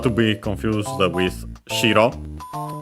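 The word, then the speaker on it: 白: An accented not to be confused with shiro. accent on the first syllable and that means white.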